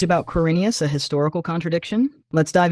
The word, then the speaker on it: Quirinius: It's pronounced Quirinius.